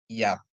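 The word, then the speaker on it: יד: E ini Yod ya Yod dikasih kamat dia bacanya jadi ya ya ditambah dalet ta nikut dia jadi bacanya Yat Ya yang artinya adalah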